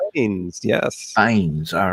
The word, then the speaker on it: Bynes: Bynes? Bin? Bynes, yes. Bynes. All right. Then now, I think I actually can pronounce the rest of them here.